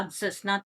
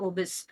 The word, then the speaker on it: obese: ஸோ இதுல பார்த்தோம்னா நாட் அப்சஸ். நான் தப்பா ப்ரொனவுன்ஸ் பண்ணிட்டேன். This is ஒபிஸ்.